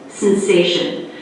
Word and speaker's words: sensation: in the dictionary and see this stress on the middle syllable sensation so practice it on